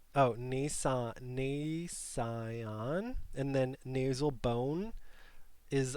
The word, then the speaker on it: nasion: Nasine, root of the nose. I don't know how to pronounce it. Am I saying it wrong? Oh, it says, nasion, and then nasal bone is on top of it.